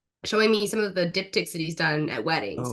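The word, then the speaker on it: diptych: at a wedding yeah I'm pronouncing that right please tell me right dip tick oh yeah yeah that's right I always like to say di dipstick dipstick um I've heard it said dip dip Tish dip TSH I'm like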